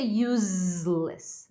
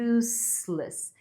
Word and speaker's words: useless: Não vai ser useless, vai ser useless com sonzinho de s.